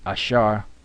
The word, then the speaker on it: Asher: is he Napal is wrestling okay Asher is Asar a which is Asar means happy all right